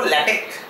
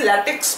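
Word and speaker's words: LaTeX: সময় পড়বো সি তাহলে পড়ার সময় কি পড়বো ল্যাটেক আরো ভালো হয় যদি কে পড়ো আরো ভালো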